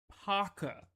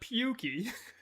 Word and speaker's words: Paka: I don't know why they cannot say Paka. It's not Pukey.